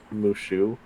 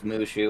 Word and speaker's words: Mushu: No So Mushu.